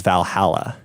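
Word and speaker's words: VA-11 Hall-A: hall a so now harlow which is then pronounced as Valhalla yeah yeah said it right yay go me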